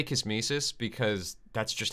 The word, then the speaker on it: kismesis: supposed to be pronounced i usually pronounce it kismesis like nemesis um like kiss nemesis yeah i think you're